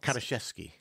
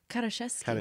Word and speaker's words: Karaszewski: So I feel what, like, how is your name supposed to be pronounced? Karaszewski. Karaszewski.